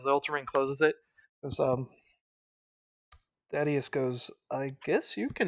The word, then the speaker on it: Thaddeus: pronounced Thaddeus.